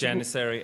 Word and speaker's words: Janissary: I can't pronounce this second word. You're going to have to help me. It's Janissary Assassin.